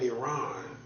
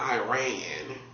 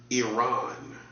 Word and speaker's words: Iran: You got You got the war surrounding Iran. That's how you pronounce it. Not Iran like a redneck. Iran. That's how you pronounce it. Not Iran.